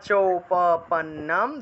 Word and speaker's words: উপপন্নম: ইয়াদৃচ্ছায়া চৌপপন্নম, দন্ত্য ন, দুইটা ন, পন তারপরে নম, পন্নম।